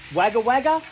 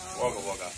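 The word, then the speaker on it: Wagga Wagga: Is it wagger wagger or waga wagger? Waga waga. Waga wagger. You sure about that? Actually, because it it's spelled wagawaga.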